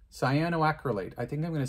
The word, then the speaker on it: cyanoacrylate: this scio i'm getting better at the name cyanoacrylate cyanoacrylate i think i'm going to stick with that pronunciation that's what it is there's the right